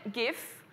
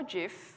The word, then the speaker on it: GIF: graphics interchange format and whether you pronounce it gif or Jif what's not up for